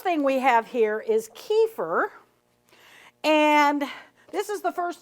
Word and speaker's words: kefir: one nice thing about kefir and I I know that I'm probably pronouncing it the American way I think it's supposed to be kefar or something like that but we Americans we